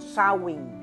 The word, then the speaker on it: Samhain: de un antiguo festival Celta llamado sawing lo estoy pronunciando en lengua gaélica porque me estoy remontando